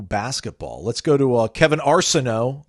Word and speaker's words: Arsenault: Let's go to Kevin Arsenault. I think it's Arsenault. Arsenault. I'm going to go with the French pronunciation.